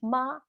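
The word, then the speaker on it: 吗: And a question, if you can turn a statement into a question by simply adding ma, no tone, meaning it's a light sound at the end of it.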